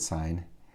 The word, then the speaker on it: sine: theta and we'll abbreviate sine as sin don't pronounce it sin i'll pronounce it sine the sine of theta